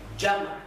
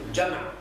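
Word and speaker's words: جمع: And in Arabic jam'. Jam'. Jim, mim, ain. Jam'. Jam'. Also in Urdu is jama. We pronounce in different style.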